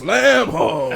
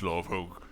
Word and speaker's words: Lavogue: It's a common misunderstanding. It's a Bahamian pronunciation. A lot of people want to say lamb hog because it is more aesthetically pleasing, but I assure you it's love hog.